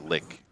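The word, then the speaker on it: lich: technically pronounced that way it's actually pronounced lick which sucks well that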